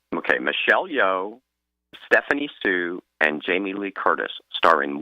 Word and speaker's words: Hsu: two Michelle yo right Stephanie Sue which is spelled Hsu and J Curtis that